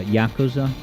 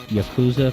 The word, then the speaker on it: Yakuza: correctly what's that uh Yakuza yeah I was saying Yakuza for the longest time like bazooka I remember when someone